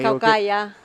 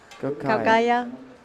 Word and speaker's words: Caucaia: You can pronounce that one if you want. No, I want you to help me, Gemma. Caucaia. Caucaia.